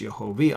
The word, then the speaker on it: Yehovi: Here is actually Yehovah. With a chirik, we pronounce Yehovi.